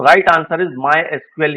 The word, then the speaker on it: MySQL: What is the official pronunciation of मायक्यूएल। मायस्कूल का आधिकारिक उच्चारण क्या है? माय एसक्यूएल this is the right answer my एसक्यूएल माय सीक्यूएल भी आपको कहीं-कहीं मिलेगा लेकिन जब ऑप्शन है